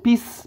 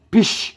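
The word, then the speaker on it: بِسْ: ilmu Oh ini bacanya ba kasrh bertemu Sin itu bis ketika Sin sukun itu dua gigi bertemu bis bukan bish bukan Bush bukan bes bukan dan lain sebagainya tetapi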